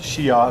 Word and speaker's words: Xia: Then came the Xia dynasty, otherwise spelled Xia, pronounced Xia, the Xia dynasty, or HSIA.